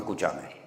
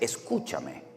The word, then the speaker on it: escúchame: que escuchame si nosotros los españoles no decimos escuchame en español no existe el escuchame es escúchame o escuchadme no salí no se